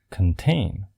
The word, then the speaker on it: contain: But when the word is a verb, this changes to kn. For example, the word contain, the stressed syllable.